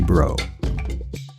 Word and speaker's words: Browe: It's actually pronounced bro, like yo, bro. Yo, bro. Uh-huh. It's not brow, because I was thinking